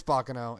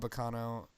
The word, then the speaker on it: Baccano!: It's Baccano. It's not Baccano.